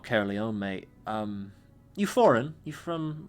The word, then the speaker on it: Caerleon: They're called the Caerleon Empire, and obviously it's pronounced that way.